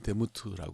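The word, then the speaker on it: דמות: 히브리 말로 미라고 읽고요 모양이라는 말은 데무트 그렇게 읽어요 근데 뭐 이거를 히브리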